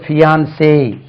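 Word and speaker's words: fiancé: இது first n எடுத்துருங்க fஐ ஏன் சிஇ இதுக்கு உச்சரி பியான்சே இதான் வுட் பி ஹஸ்பண்ட் ஒரு நிச்சயதார்த்தம் முடிஞ்ச பிறகு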